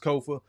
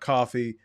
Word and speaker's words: Kofa: I am your humble host, Kofa, K-O-F-A, not coffee, not kufu, not Kofi, or any variation thereof. Kofa rhymes with sofa.